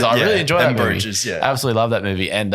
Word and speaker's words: Bruges: Didn't get to go to Belgium, which is disappointing because I knew we were going through Bruges. Bruges.